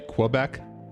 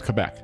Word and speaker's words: Quebec: A lot of people say we'll say Quebec. Mhm. It's Quebec. There's no like Q like Yeah, it's just it's just Quebec. There's no like U or W pronounced there.